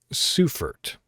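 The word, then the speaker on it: Seufert: written by eric benjamin uh sufert is how you would pronounce his name it says one odd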